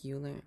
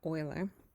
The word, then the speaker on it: Euler: name was Leonard Euler now it looks like Euler that's how I was pronouncing it for the longest time and then I realized